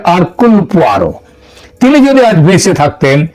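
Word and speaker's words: Hercule: আঘাতটা বৃষ্টি এবং তার বন গোয়েন্দা আরকুল পোয়ারো এটা যদিও ওই উচ্চার উচ্চারণে এটা হয় হারকিউল কিন্তু একচুয়ালি উচ্চারণটা হচ্ছে আরকুলার তিনি যদি আজ বেঁচে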